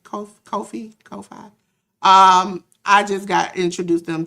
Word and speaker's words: Ko-fi: Ko-Fi, I think that's how you pronounce it. Ko-Fi.